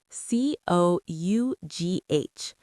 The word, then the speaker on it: cough: C O U G H. Cough. When you have a cold, you cough. Let us practice this word. It sounds different from how it is spelled. Listen. Cough.